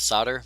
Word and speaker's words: solder: all over the place what about solder most don't pronounce the O yeah you do it's just combined with the O solder is different than sod or sawdust oh so there it changes the way the o is pronounced I don't know